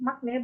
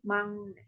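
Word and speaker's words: 막내: Jadi makne bukan makne bacanya tapi mangne, seperti itu. Jadi untuk Yorobun kalau udah tahu nih bacanya maknenya bukan makne tapi mangne, untuk kedepannya dimohon menggunakan pronunciation yang tepat. Bacanya 망네.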